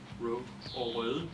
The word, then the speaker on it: Røde: We used the good old school video mic from Røde, which is how we pronounce it here in Denmark.